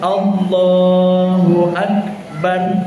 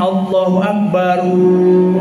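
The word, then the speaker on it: الله أكبر: Jadi, yang benar tuh yang sederhana saja. Allahu Akbar. Selesai. Kalau mau Allahu Akbar jangan Allahu Akbaru.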